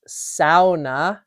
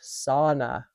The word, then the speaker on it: sauna: And uh so I just wanted to point out that uh it is pronounced sa, not sauna.